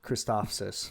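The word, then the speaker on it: Christophsis: So that was the Clone Wars movie, Kristophsis. And it's literally just Kristoff, like Christopher sis. Kristophsis.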